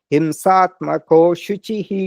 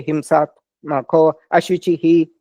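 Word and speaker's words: हिंसात्मकोऽशुचिः: So this thing small means you don't pronounce it. Himsatmako shuchihi, you say, but this means ashuchihi. It for the meter, you don't say himsatmako ashuchihi. The meter is broken. So you just say himsatmako shuchihi.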